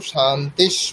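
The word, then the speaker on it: शान्तिः: এটা একটা ব্যাকরণের নিয়ম সেইজন্য শান্তিশ বলবেন বিসর্গের উচ্চারণ তালবস করবেন যখন পরে তালবস থাকবে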